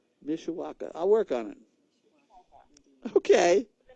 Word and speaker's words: Mishawaka: practice that oneisha Mishawaka okay like it says but you got so many letters in there it looks weird people usually can't pronounce it right Mishawaka I'll work on it